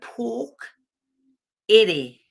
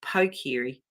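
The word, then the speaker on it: Pokere: which is it's spelled p-o-k-e-r-e but it sounds like pork you know like like the pig the pork of a pig the meat so pork Eddie and that's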